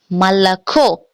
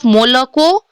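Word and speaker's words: молоко: So first word, malako. First word is malako. Malako. Why malako instead of molako?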